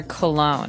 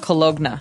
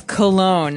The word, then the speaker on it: cologne: ends with uh it it's spelled c o l o g e n e so you don't really say the g it's not cologna right it's cologne and it's something that you